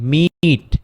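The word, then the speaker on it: meet: একইভাবে এমইটি মিট মিট মিট এই যে ইটা উচ্চারিত হবে না।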